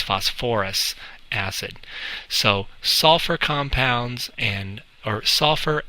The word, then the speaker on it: phosphorous acid: into us so it's you would think it's phosp us acid but yeah again you act you add an extra little syllable in there so it's phosphorous acid so sulfur compounds and/or